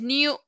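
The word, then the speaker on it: knew: you know you know el pasado del verbo es que niu niu se escribe k n w entonces como ya salí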